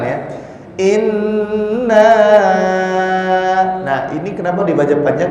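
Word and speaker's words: إِنَّا: Yang pertama yang perlu diperhatikan, ini ada nun tasdid. Maka kenapa dibacanya ditahan dulu? Inna. Jadi seraya ke 2 ketukan ya. Inna.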